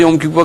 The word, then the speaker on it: Yom Kippur: 그러니까 욤키프 때니까 그때가 욤키프가 가까운 때 모양이에요. 예, 그런 말을 해요. 그런 식으로 한번 발음해 보세요.